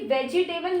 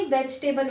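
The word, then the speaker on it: vegetable: ये भी वेजिटेबल नहीं होता, ये वेजिटेबल होता है। इसकी जो करेक्ट प्रोनाउंसिएशन है वेजिटेबल, वेजिटेबल, ठीक है, वेजिटेबल।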